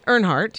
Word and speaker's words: Earnhardt: del art or aren't Earnhardt's of sing his name wrong all right ernhardt okay Dale Earnhardt's car getting auctioned off why